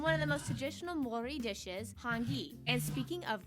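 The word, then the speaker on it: Māori: Yes, by the way, it's pronounced Maori, not Dang. Maori, Maori.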